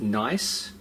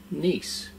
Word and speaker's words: Nice: I'm using nice and no it's not pronounced nice it's a brand pronounced nice now we just want